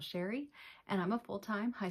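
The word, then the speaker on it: Chere: My name is Sherry and that is spelled C-H-E-R-E. It is spelled a little fancy but pronounced plain old Sherry, and I'm a full-time high school English teacher and a part-time reseller here on YouTube.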